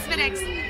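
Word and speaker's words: Smithwick's: It is pronounced Spinix.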